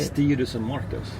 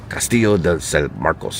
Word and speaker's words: Castillo de San Marcos: Castillo de San Marcos. Castillo de San Marcos.